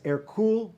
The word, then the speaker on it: Hercule: france eventually his name his birth name was air cool de valois but he was small he was